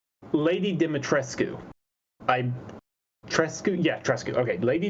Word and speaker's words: Dimitrescu: name is let me see if i can pronounce this right lady dimitrescu okay lady dimitrescu is her name and she's about eight and